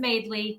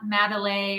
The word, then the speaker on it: Maidley: It's just Maidley. It's not Madeley or Madeley.